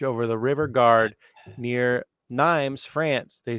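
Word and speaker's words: Nîmes: No, Nimes.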